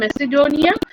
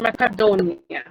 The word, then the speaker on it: ম্যাকাডোনিয়া: উনি ছিলেন একজন সবাই বলে গ্রিক যোদ্ধা, কিন্তু অ্যাকচুয়ালি ওনার অরিজিন ছিল যেটার আবার দুই ধরনের উচ্চারণ আছে। বহুল প্রচলিত উচ্চারণ হচ্ছে মেসিডোনিয়া, কিন্তু অ্যাকচুয়াল উচ্চারণ হচ্ছে ম্যাকাডোনিয়া।